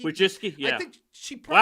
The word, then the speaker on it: Wojcicki: I can never pronounce Wojcicki. Wojcicki? Wojcicki, yeah.